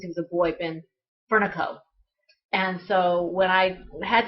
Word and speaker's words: Fernaco: It's Furnico with a short A and no staccato O to it. So, or staccato A.